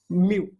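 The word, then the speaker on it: μ: इसका प्रोनाउंसिएशन यम और यू दोनों को एक साथ बोलना, म्यू।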